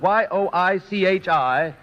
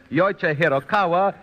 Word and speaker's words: Yoichi Hiraoka: Well, one of the names in the tests was spelled Yoichi Hiraoka. It was spelled Yoichi-Hiraoka. Well, it was pronounced by many taking that announcer's test as Yoichi Hirokawa or Yoichi Hiroike, and a great many other variations, all of